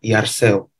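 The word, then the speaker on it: θαρσέω: Penulisannya itu Tarseo, T-H-A-R-S-E-O, tapi bacanya Yarseu.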